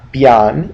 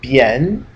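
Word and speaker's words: bian: not Yan it's yen here it's not Beyond it's bien and then okay this one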